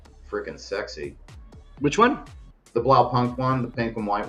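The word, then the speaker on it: Blaupunkt: sexy which one the blow Punk one the pink and white one oh yeah I might be saying that word wrong yeah blow Punk no no you're saying it right yeah that's what I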